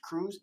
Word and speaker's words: Krug: is telling people oh my last name is crew because it was mistranslated at some craziness like that it's actually cruz it's pronounced cruz now with her in